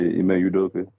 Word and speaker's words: Ime Udoka: Yeah, Ime Udoka.